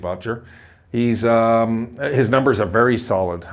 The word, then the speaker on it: Oettinger: Jake Oettinger, or Odger is the way it's pronounced, I believe, Odger.